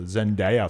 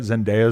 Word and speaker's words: Zendaya: So I could have got the Zendaya follow and I wouldn't even fucking know. Did I say it right? Zendaya.